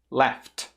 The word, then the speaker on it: laughed: Laughed.